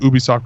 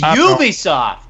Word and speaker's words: Ubisoft: um like uh the Ubisoft conference we may get some stuff it's Ubisoft not Ubisoft is it yeah according to Ubisoft according to Ubisoft it's Ubisoft not Ubisoft same I could say the